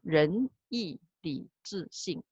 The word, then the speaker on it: 仁义礼智信: I put the pronunciation, 2 is the second tone, 4 is the fourth tone. So 仁义礼智信.